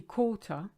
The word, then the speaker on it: quart: Now, if you look at the word quart, it's actually quarter, but with the French phonetic being the way it is, the QU is a K, quart, and you don't say the T, silent letter.